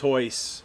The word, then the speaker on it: Royce: so then Oh, if it's Derek pronounced Hoyce.